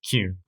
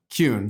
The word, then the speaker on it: Kuehn: pronounced a thousand times is how do we pronounce your last name it's cune kun so you don't want to be called or